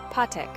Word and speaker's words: pátek: Pátek, pátek. Pa rhymes with pa and tek is similar to tek. It's a straightforward pronunciation.